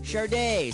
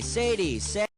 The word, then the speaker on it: Sade: How the heck do you pronounce that? Sade, Sadie, It's pronounced Sade.